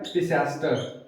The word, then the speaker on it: Pisaster: और इस स्टारफिश का नाम होता है पिसास्टर, पिशाच मत समझ लेना, पिसास्टर इसका नाम होता है, PISASTER स्पेलिंग है ये।